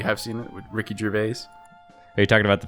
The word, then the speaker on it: Gervais: Why are you saying Gervais? Are you making fun of him, or is that how you pronounce it in your head? That's how I pronounce it in my head. What is it, Gervais? No, Gervais. Why the hell would it be a jur? I don't know, but it is.